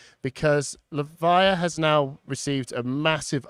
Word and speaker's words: Levia: my wife voiced uh got told the official pronunciation but I've forgotten it already it's levia levia confirmed by LSS so uh so this matchup